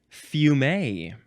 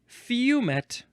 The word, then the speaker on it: fumet: Next is fume or fumet. Yeah, either one is fine. It is spelled F-U-M-E-T. So fume seems like the more proper way to pronounce it.